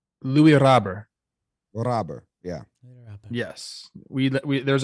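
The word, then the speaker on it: Luis Robert: Yeah, we learned how to say it's Louis Robber.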